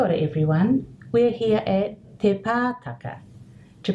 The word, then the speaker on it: Te Pātaka: To pronounce Te Pātaka, we can divide it into our sections ending with the vowel sounds. This gives us our e sound, te, and our ah sounds, pa, ta, ka. So these are going to be all the same sound, but the one difference